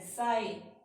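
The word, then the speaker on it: sigh: साई, सिर्फ हम उससे पहले वाले प्रोनाउंस करेंगे।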